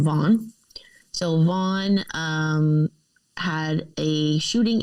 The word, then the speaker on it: Vaughan: H-A-N, which that made me wonder if it's pronounced Vaughan or Vaughan. I wasn't actually sure. No, it's Vaughan. I was like, I'm not from Canada. I don't know. Yeah, V-A-U-G-H-A-N.